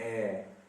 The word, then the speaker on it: heir: पता चल जाएगा कि इसमें जो सबसे पहला लेटर है वो बस ऐसे ही आपको चकमा देने के लिए बैठा है, इसको भी प्रोनाउंस नहीं किया जाता।